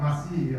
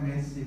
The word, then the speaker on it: Masih: Iya, Yosafat Masih ya. Bacanya Masih. Kalau orang luar namanya Messi, kalau sini namanya Masih ya.